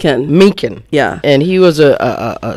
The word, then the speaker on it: Mencken: How's it pronounced? Mencken.